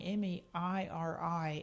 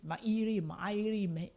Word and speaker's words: Mairi: is the Gaelic spelling, Mairi, and I had already in Scotland, I'd already started spelling it without the middle I. It's a silent I. It's pronounced the exact same way.